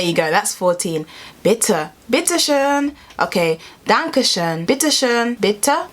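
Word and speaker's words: bitte schön: bitter unpetition bitter under bittershoen that o is definitely an uh would have definitely benefited me to learn the alphabet so there you go that's 14 bitter bitter sheen okay dan kishan bittershane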